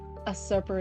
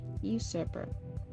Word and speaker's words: usurper: Assurer is how I said it before. Oopsie. That's the dyslexia. Usurper.